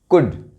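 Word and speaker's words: could: कुड, शुड। यहां भी L silent है।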